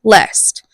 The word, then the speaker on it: least: two it's saying that least in line eight is pronounced lest so it rhymes with possessed so those are going